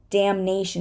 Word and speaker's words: damnation: Damn, but damnation. Again, it became part of the next syllable, so we're going to say it.